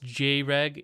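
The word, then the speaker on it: Jreg: It's pronounced J-Reg. Yeah, I know. It's Greg with a J.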